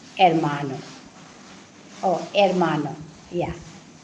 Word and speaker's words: hermano: means armano hermano yeah H is not pronounced, no, so it would be hermano.